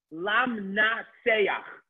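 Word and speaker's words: למנצח: The last word, lam, na, say, ach. We use it very regularly, different psalms of Tehillim. Lam na seyach.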